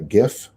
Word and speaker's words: GIF: where it had a gif and the right way to say the word is gif but i know the young people say jeff g i f um and